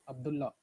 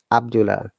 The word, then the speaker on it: Abdullah: Abdullah. Yes, not Abdullah. A native will never say Abdullah, it's Abdullah. One L should be removed when you're pronouncing.